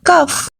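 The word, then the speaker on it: cough: cuff the word is cuff here we will pronounce the letter G as F right I have a bad cuff your lips are chopped you can say your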